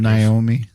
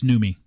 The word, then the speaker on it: Noomi: Naomi? No, it's Noomi. Noomi? Noomi.